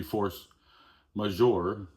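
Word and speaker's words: force majeure: It is a French term ma majour I believe it's pronounced.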